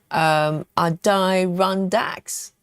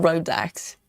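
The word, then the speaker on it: Adirondacks: Adirondax. Adirondax. Not Rodax.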